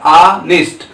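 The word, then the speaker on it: honest: ऑनेस्ट। इसलिए यहाँ पे यच हमारा क्या है? साइलेंट है।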